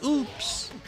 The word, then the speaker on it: UPS: So, every time the truck would come, she's like, "Edgard, look, it's oops. Oops is here." Cuz in Spanish, the the U is pronounced like that, like like oops.